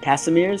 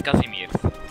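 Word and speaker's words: Casimir: you pronounce his name is it Casmir like I like like correct like that pronounce that name Che he's my air how do you pronounce his name what the is that kind of name kazimir kazimir that's that's po that's a Polish name yes kazimir so that's how you pronounce them all rights okay I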